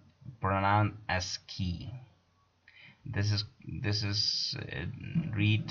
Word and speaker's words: ASCII: information interchange or a s c double i pronounced pronoun as key this is this is read as key in order to provide what is ascii standard american standard code for information interchange okay